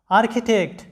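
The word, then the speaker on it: architect: তারপরে আর্কিটেক্ট, লক্ষ্য করো আর্কিটেক্ট, স্থপতি বা নির্মাতা, আর্কিটেক্ট, এখানে লক্ষ্য করো সিএইচ এর উচ্চারণটা কি হয়েছে ক এর মতো হয়েছে। এরপরে দেখো যে আর্কাইভ, সংরক্ষণাগার।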